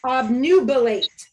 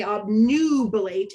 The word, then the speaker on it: obnubilate: This is an open syllable, so this U is going to shout its name, which is why we say obnubilate and not obnubilate.